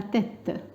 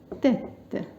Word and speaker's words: tête: باللغة الفرنسية on dit la tête. La tête. Alors ce E là avec accent grave, il se prononce E, comme par exemple crêpe.